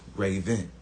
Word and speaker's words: Ravon: My name is Raven. Spelled Ravon, so spelled like Raven, but pronounced Raven.